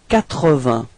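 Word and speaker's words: quatre-vingts: Okay, and then comes 80. Alright, so final S, T and G are not pronounced. Okay, and then remember that Q and U give you the sound k, so you get 80.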